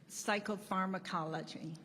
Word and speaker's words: psychopharmacology: She leads the PTSD pharmaceutically, how you pronounce that? Psychopharmacology.